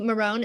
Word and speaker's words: Myron: Thank you, Marone. Am I pronouncing that correctly?